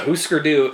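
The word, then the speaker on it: Hūsker Dū: i'm pronouncing it right it's hu with one of those things above it s-k-e-r and then do d-u with one of those little things above it so who screw-do is a it's child's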